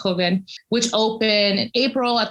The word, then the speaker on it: Joven: And so the exhibition Tierra Blanca Joven, or Joven, sometimes my Portuguese comes out, it's pronounced Joven, which opened in April at the Brooklyn Museum.